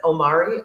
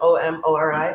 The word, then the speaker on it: Omori: So my first really bad, don't waste your time is, I think you pronounce it Omori, O-M-O-R-I, Omori.